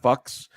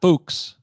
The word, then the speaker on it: Fuchs: anybody who missed that, his name is Scott Fuchs. I'm sorry, Fuchs. Scott Fuchs. Yeah, it's Scott Fuchs. Fuchs. All right. Well, it rhymes with Bucks.